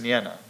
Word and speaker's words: Nienna: But in addition, he spent a lot of time with, I believe her name is pronounced Nienna.